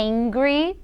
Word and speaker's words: angry: estou assustada querd é Ingrid em inglês não confundam em grego significa bravo Ok com Angry olha só a pronúncia Hungry é quando você está com fome é Ingrid quando você está bravo e aí a gente